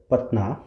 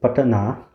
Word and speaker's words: Patna: Guru Gobind Singh, he was born in the city of Patna, and see, I already mispronounced that. It's Patna.